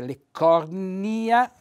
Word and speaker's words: leccornia: i allora chiariamo subito si pronuncia correttamente leccornia ecco vedete leccornia quindi che l'accento sulla i edile anche qui l'accento